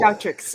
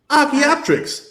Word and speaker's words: Archaeopteryx: I'm having a trouble pronouncing this Yeah, word. an Archaeopteryx. It's a type of dinosaur. Oh my god, Oh. Archaeopteryx. Yes. Archaeopteryx.